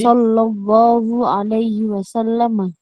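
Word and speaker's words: صلى الله عليه وسلم: Tamam seperti ini ya cara baca yang benar kalau bisa selawat harus sesuai kaidah karena kalau beda kaidah Ya beda makna nanti ya seperti ini ya Sallallahu Alaihi Wasallam wasallama ya di sini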